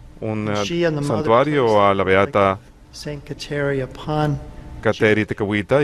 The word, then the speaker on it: Kateri Tekakwitha: En India me parece que la K se pronuncia como si fuera J, así que ellos dicen Santa Kateri Tekakwitha, algo así más o menos.